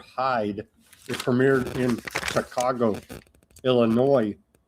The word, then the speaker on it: Illinois: It premiered in Chicago, Illinois with no S. The S is silent.